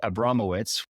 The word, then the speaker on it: Abramowitz: Mike Abramowitz, which I didn't butcher the name, right? We got it? That's perfect.